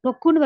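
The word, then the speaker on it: ろっかい: 6 தடவைன்றதுக்கு வந்து ரொக்குன்னு வராது ரொக்கை அப்படின்னு வரும்.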